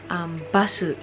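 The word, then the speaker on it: バス: Basu. Ganun lang yung pag-pronounce nila. Basu. Basu. Kasi dito sa Japan, parang they always end every word with vowels.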